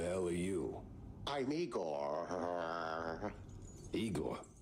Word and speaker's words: Igor: Igor, not Igor? No, Igor. Why so many Rs?